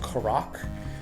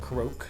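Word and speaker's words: Korok: Um, and then they showed how the Koro mask works, which I guess is actually pronounced Korac. I've always said Karo.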